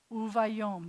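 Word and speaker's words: וּבַיּוֹם: Uvayom, the accent's on the last syllable.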